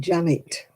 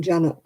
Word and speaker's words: Janet: They used to pronounce it Janet in Oldham. I said, I'm not Janet, I'm Janet.